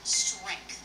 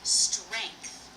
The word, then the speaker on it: strength: You can say strength with something that sounds more like a like say stray. Strength or you can say e like in said strength.